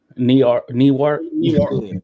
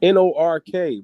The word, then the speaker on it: Newark: Newark. It's Nork, bro. Hey man, listen, just because y'all pronounce stuff funky don't mean make it right.